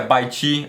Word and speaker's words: bite: Você não pronuncia bite ou bite, é bite, é o T mudo, ok?